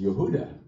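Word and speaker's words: יהודה: a part of Israel called Judea its original pronunciation is Yehuda so has anybody here been to Dwarka so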